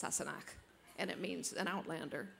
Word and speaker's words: Sassenach: Sassenach. The question was, you know, can I say this unpronounceable word that Jamie calls Claire? It's pronounced Sassenach, and it means an outlander, specifically an English person.